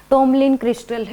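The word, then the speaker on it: tourmaline: जिसका नाम क्या था टॉमलिंसन इसमें आर साइलेंट रहता है तो टोमन क्रिस्टल यह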